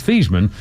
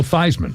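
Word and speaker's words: Theismann: And um and the course Joe Thman's real name is Thesman. They changed it in Notre Dame to rhyme with Heisman. So they called him Joe Thyman.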